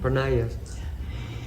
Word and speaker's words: Pranaya: Is that how you say it? Pranaya? Pranaya.